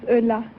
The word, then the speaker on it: Ulla: Ulla, is that right? Is that how you pronounce it? No, my name is Ulla. Ulla, eh? Yeah. Yeah, Ulla. French have a word for it. Ooh la la.